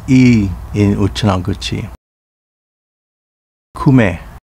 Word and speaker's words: Kume: Kume, pronounced Kumi in Uchinaguchi.